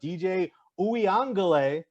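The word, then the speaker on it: DJ Uiagalelei: and notre dame clemson no trevor lawrence but dj ouiangele as it is correctly pronounced he's been good he had a great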